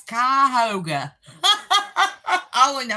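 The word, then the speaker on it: Cuyahoga: GPS because it didn't know how to pronounce Kyhoga. I only know how to pronounce it because I lived there for a while. Kyoga.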